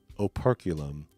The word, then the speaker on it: operculum: Operculum is the proper pronunciation, guys.